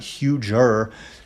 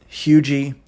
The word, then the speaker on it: Huger: When we get up here into Hugie, yes, it's pronounced Hugie, not Huger.